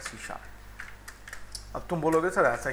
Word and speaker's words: C#: अब हम बात करेंगे यहाँ पे सी शार्प की. याद रखना इसको लिखा जाता है सी हैश, और जब हम पढ़ने की बारी आती है तो इसको हम बोलते हैं सी शार्प.